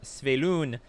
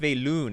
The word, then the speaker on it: Svyelun: i don't care we've got our sh our sveloone i didn't know it's pronounced veylun i like it i like this card so